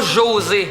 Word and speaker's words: José: C'est pas José, c'est José. Parce qu'en espagnol, on prononce pas les J. Fait que ça sonne José, avec un H.